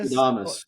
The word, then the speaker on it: Nostradamus: Oh, Nostradamus.